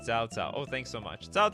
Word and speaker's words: Cao Cao: Chow Chow is pronounced Cao Cao.